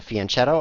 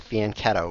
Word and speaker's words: fianchetto: on this long diagonal this is called a fianchetto also called a faneto we could argue all day about how to pronounce that but meanwhile he's not